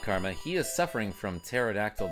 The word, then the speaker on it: pterodactyl: He is suffering from pterodactyl dysfunction because the P is silent.